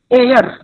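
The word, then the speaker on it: heir: Pronunciation is एयर। Reason, ये वाला word खास तौर पे पूछा जाता है आपके अपना आर्टिकल के साथ। अगर आप इसको हेयर करके पढ़ेंगे तो अ लगा देंगे, ये एयर वर्ड है, इसके साथ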